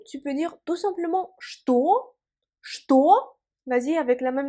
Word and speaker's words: что: Pour dire que ou quoi, on emploie en russe что. Что. Vas-y, prononce avec moi. Что. Et fais attention, on écrit ch-t-o, mais cependant ce mot-là, il faut le prononcer comme что.